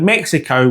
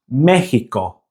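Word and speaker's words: México: See how we end the word Mexico with the O sound in English. Now in Spanish, the pronunciation is with an O sound. So Mexico becomes Mexico. Mexico. It's a short, sharp O sound.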